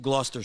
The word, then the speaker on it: Gloucester: Gloucester Street. Yeah, that's not how it's spelt at all. Massachusetts is weird like that.